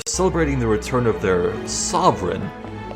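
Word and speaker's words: Sovran: They're celebrating the return of their sovereign, which sounds like sovereign, but is spelled in the subtitles S-O-V-R-A-N.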